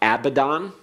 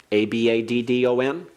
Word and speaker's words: Abaddon: avad he perished uh when you talk about Abaddon a-b-a-d-d-o-n that's the noun from avad Abaddon means destruction